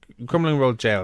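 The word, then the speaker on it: Crumlin Road Gaol: Crumlin Road Jail, isn't it? Is that It's just, yeah, is that how you pronounce it? Yeah, it's jail. Crumlin Road Jail, excuse me, number 2.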